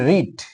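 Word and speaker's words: read: দেখতে পারো গুনবা এরপরে দেখো লিসেন সে এন্ড রিড এখানে এই ভার্বটা আমরা চিনি এটা চিনি এখানে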